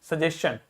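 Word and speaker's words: suggestion: दोगे एस सी एच यदि कुछ वर्ड एसटी आई ओ एन से एंड होते हैं तो उन्हें एस सी एच का साउंड देंगे जैसे यह देखिए एसटी आई लिखा है तो क्या हो जाएगा सजेन सजेशन he asked me he asked me for some सजेशन सजेन ठीक है सजेन डाइजेशन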